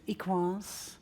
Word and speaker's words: EQUANS: of the BU group very French so that's why uh the pronunciation is equ I was given